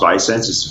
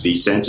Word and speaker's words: ViSenze: the four co-founders of the sense it's not pronounced by census fee sense and by the way it's a it's a